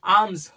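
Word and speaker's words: alms: আর্মস। আবার পি এল এম কি হবে? পাম। তাহলে এইগুলো আমাদের উচ্চারণের ক্ষেত্রে অনেক সাহায্য করে।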